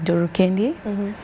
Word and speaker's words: Doro Kendi: it yeah someone don't know anyways the finite pronunciation is my name is duru kendee and i'm a upcoming artist yeah and uh